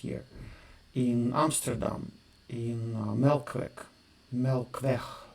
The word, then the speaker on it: Melkweg: Melkweg, they pronounce it, the Dutch guys.